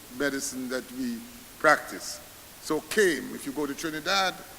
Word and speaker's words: CAIM: It can be used or it doesn't have to be used, but I've coined this word CAIM, C-A-A-A-I-M, pronounced CAIM.